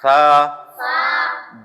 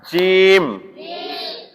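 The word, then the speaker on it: جيم: দাতের agar সঙ্গে লাগবে তা সা জিম জিম জিম জিম জিম হরফটি শক্ত উচ্চারণ এই জিমের মাখরাজ হচ্ছে চার নাম্বার মাখরাজ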